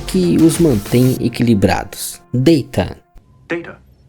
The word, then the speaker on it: Data: Data data my name is pronounced data.